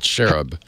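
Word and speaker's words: Xerub: But this hacker who goes by the handle X-E-R-U-B, X-E-Rub, I guess, or Z-Rub, don't know how you want to pronounce it. Yeah, I said Cherub. Good, Cherub.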